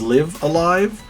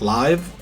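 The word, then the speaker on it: Live A Live: said live a lot the guy pronounced it a couple different ways but as as far as i understood it was liv alive but some people are saying it live uh live i'm not 100 sure so yeah but doesn't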